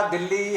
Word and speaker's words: दिल्ली: पूरा दिल्ली हरियाणा उत्तर भारत उच्चारण दिल्ली करता है। पूरा देश और सब जगह दिल्ली बोला जाता है।